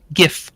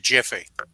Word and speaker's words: GIF: do you pronounce this is it with a hard G or a soft G and everybody says oh